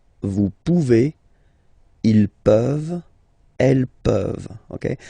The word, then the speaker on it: pouvez: Remember you pronounce it E. Okay? Vous pouvez.